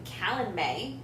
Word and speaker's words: Calanmai: pharah disobeys orders from tamlin and ventures into callan may as we just learned to pronounce it uh three fey creatures try to